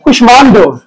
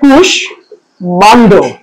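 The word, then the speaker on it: কুষ্মাণ্ড: কুষ্মান্ড এবং হচ্ছে কাশ্মীর, এগুলো হচ্ছে তৎসম শব্দ। তাই এখানে ম ফলা কোনোভাবেই কি বিলীন হয়ে যাবে না, কোনোভাবেই যুক্ত করবে না। এটা কি করবে, যে ম ফলাটা থাকবে তার উচ্চারণটা বজায় থাকবে। যেমন দেখেন যে এখানে শয়ের সাথে ম ছিল, এখানে শ এবং ম দুটোই চলে এসেছে। তাহলে এটা দেখবেন কি হচ্ছে কুশ মান্ড।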